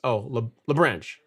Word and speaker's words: LaBranche: All right, next up you got LaBranche. He says it's LaBranche. So no E. The E is silent.